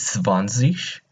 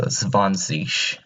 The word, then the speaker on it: zwanzig: So 20 is zwanzig. So that G is not, you don't pronounce it as like a G. You kind of pronounce it as a SH. So zwanzig.